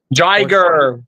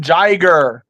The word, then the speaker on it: Jaguar: It's crazy that Violent Jaguar is Jiger, Violent Jiger. Violent Jiger. But this one has it as Violent Jaguar. It's literally pronounced Jiger.